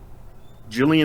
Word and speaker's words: Gillian: Gillian Anderson. Yeah. Okay. Gillian Anderson starts with a G, but it's got the J sound, right?